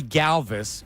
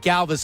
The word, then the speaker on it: Galvis: the season he said, "It's actually not Galvis. I want you to call me by how it's really pronounced which is Galvis."